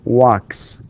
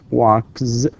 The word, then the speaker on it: walks: here also notice that the final sound in the verb walk is voiceless and therefore we pronounce this you know sound right s we say walks not walks not Z with Z with z sound no with sound because